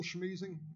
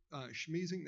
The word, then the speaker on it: Schmiesing: It's Schmeezing, and I'm a member or a resident of the Cotton Creek Homeowners Association, live in Cotton Creek. Could you spell that name? Schmeezing, that's SCHMIESING.